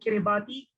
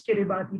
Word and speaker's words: Kiribati: i was reminded that kiribati should not be pronounced as kiribati but rather as kiribati the only country that